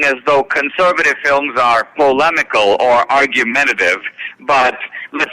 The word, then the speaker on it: polemical: A polyemical film? How do you pronounce it? Where it's an opinion type film. Are you familiar with it? Sure. Did you write the it? word is polemical, and Okay.